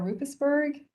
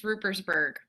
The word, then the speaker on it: Rupersberg: And I believe we have Sarah Rupesberg with us tonight. Sarah? Hi, yes, it's Rupersberg.